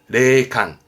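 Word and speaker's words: 霊感: 발음은 레콘, 레콘. 요게 영감을 얻을 때 영감입니다. 레칸, 레칸입니다.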